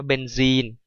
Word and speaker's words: เบนซีน: ตัว นี้ นะ ครับ เบนซีน อ่าน ว่า เบนซีน นะ ครับ สูตร ของ เขาค ก็ คือ C6 h6 นะ ครับ สูตร โมเลกุล ของ เา เป็น C6 h6 เบนซีน ตัว เนี้ย ไม่ ใช่ น้ำ มัน เบนซิน ที่ นัก เรียน เอา